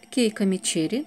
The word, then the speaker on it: Keiko Mecheri: обмену это аромат от keiko mecheri тот который я получил по моему это марка читается именно так keiko mecheri и сам аромат называется